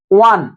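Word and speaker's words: one: ও এর উচ্চারণ কিসের মতো রয়েছে, ওয়া, ওয়ান। এটা যদি আমরা উচ্চারণ বাংলাতে করা হয়, তাহলে ওয়ান।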